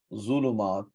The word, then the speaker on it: ظلمات: Zwad, this zulumat has Dhamma on it, so make sure we pronounce it.